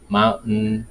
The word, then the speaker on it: mountain: You remember the same problem you were having with mountain, Manhattan. So this pronunciation basically it's the same. The T is mute.